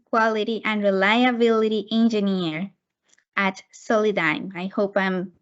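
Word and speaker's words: Solidigm: She is currently a listen to this is very interesting, semiconductor packing quality and reliability engineer at Soli-dime. I hope I'm pronouncing it correct.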